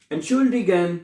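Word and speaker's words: Entschuldigung: एन शुल डिगन एंट श डिगन एंड शोल्डगन एंड श्ड गन हैं एंड शोल्डगन ऐसे कहते हैं एंड शडीगन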